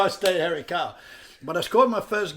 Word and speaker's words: Harry Karl: going to say your name again so the pronouncer was doubling something hairy carl that's how i stay harry carl but i scored my first goal and um